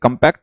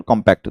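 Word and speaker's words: compact: हालांकि दो स्पेलिंग होती है ब्रिटिश इंग्लिश में, जो कंपैक्ट वर्ड नाउन होता है उसको कंपैक्ट भी बोलते हैं, लेकिन वो दोनों सही होते हैं, कंपैक्ट और कॉम्पैक्ट दोनों प्रोनाउंसिएशन वैलिड है।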